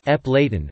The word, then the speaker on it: Appalachian: Elsewhere, a commonly accepted pronunciation for the adjective Appalachian is Eplaten, with the last two syllables ian pronounced as in the word Romanian.